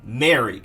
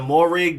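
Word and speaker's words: Moehrig: have safety travon merrick at first like months ago i was saying morig but then i figured out recently that it was merrick and i wanted to make sure that people knew that it is travon merrick and for those y'all who may not know if it's travon or trayvon or whatever it's just travon merrick but we're more focused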